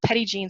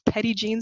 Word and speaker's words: Petit Jean: for those of you I know that's not the French pronunciation but that's how the locals say it so it's Petit Jean State Park it's beautiful